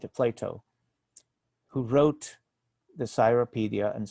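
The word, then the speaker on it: Cyropaedia: Plato, who wrote the Cyropedia, and sometimes I may pronounce it the original Chiropedia.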